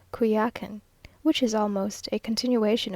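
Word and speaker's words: Coyoacán: On Holy Thursday, we went early in the morning to Coyakan, now pronounced Kuyakan, which is almost a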